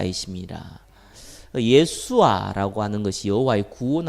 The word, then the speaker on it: 여호수아: 목으로 말씀 증가했습니다 요 수와 라고 하죠 정확한 발음은 예 수 아 란 말이 많습니다 어 여호와의 구원 아씨 이런